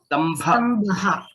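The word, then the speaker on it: स्तम्भः: Similarly, Stambhaha, Bha is a Mahaprana. Stambhaha.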